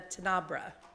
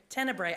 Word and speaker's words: Tenebrae: special service called a Tenebra. Did I say it? Tenebrae. I knew I was going to say it wrong.